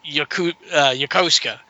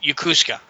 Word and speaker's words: Yokosuka: There's a big naval base up north of us that I always called Yokosuka. It's spelled Yokouska. Japanese call it Yokosuka.